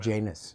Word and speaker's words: Janus: Janus. That's how you pronounce it.